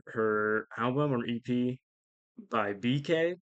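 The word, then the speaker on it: BKAYE: album or EP by BK that's spelled like b k a ye and that remix was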